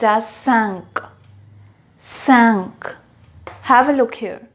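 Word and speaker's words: cinq: is pronounced as cat cat cat five is pronounced as sank sank have a look here sanch ecutabia six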